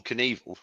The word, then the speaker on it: Knievel: Now, it just rhymed with. Oh no, it doesn't rhyme with it, does it? Oh. Yeah, it does. Evil Knievel.